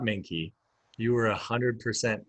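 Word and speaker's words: minke: the mink or minky do i pronounce the e at the end or not uh mickey yeah thank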